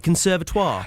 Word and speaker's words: Conservatoire: Conservatoire?